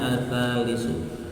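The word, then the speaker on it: الثالث: Yang bacanya ats-tsalitsu.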